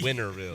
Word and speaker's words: Winterville: I guess I'm from Winterville Winterville yeah no tea winville there there's no tea in Farmville Farmville fille